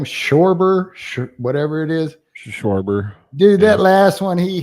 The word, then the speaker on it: Schwarber: Schwarber.